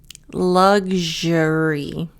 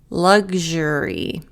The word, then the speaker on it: luxury: Luxury. So the X sounds like a G and a J. Luxury.